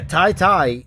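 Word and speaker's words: Tete: Yeah, Tai-Tai is how you pronounce it, I guess. Lapocate. Because that's what he told me on Twitter. He said it was T-I-T-I. T-E-T-E was pronounced T-I-T-I, he said phonetically.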